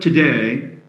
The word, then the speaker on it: today: or doesn't didn't doesn't the word today has its second syllable stressed and so we say